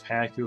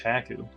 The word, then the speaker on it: Haku: you should call yourself hack you from now on I understand Haku it's clearly pronounced Haku I Roman need a